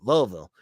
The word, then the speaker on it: Louisville: season they have louisville louisville sky i say it like they do louisville and it's a game